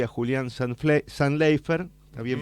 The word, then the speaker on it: Zantleifer: en el estudio a Diego y a Julián San Leifer. Está bien pronunciado.